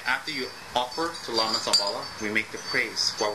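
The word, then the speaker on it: Dzambhala: Om, they spell it all kinds of funny ways. Some put J, some put D, Z. It's actually Zambala, Z, alright?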